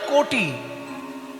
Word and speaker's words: কটি: কোমরকে ভালো ভাষায় বলে কোটি, তবে বানানটা কয়কার টয় হস্যি নয়। কয়কার টয় হস্যি কোটি মানে 100 লক্ষ, আর ক টয় হস্যি কোটি মানে কোমর। আমরা তো বাঙালি, ক লিখলে ওকার উচ্চারণ করি, ওকার লিখলে ওকার উচ্চারণ করি।